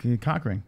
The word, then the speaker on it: Coughran: Why are you calling him COUGHRAN? Well, he said COUGHRAN. That's the correct pronunciation.